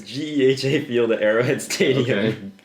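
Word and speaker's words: GEHA Field: think I don't know it's in it's at Gaya field it's at what it's a the new it's a it's G field GHA it's not GHA that's that's how they pronounce it Madden it's Gea field at Arrowhead Stadium Okay g field at Arrowhead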